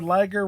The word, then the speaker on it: Liger: What was required was ice Canadian moral support and Jushin Thunder Liger rhyming with Tiger providing tips in the chat.